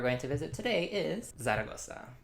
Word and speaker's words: Zaragoza: to visit today is zagosa or in Spain it's pronounced thoa thoa is the capital